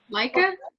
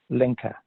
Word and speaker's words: Lenka: Leica? Lenka with an L. Okay. How do you spell it, Gustavo?